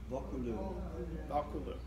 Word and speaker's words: Vaucouleurs: There's a larger town about 12 miles away, and I wish I could pronounce this. Does anybody want to give a shot at this one? Vaucouleurs? Vaucouleurs? Vaucouleurs.